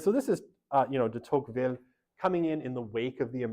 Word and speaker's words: Tocqueville: His name is Alexis de Tocqueville, or Alexis de Tocqueville in the more kind of colloquial English pronunciation.